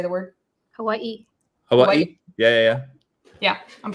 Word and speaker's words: Hawaii: tell me how to say the word Hawaii Hawaii yeah yeah yeah yeah I'm from Indiana I'm